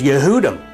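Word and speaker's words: יהודים: for Jew in English is pronounced yehudi and the word Jews is yehudim and so the case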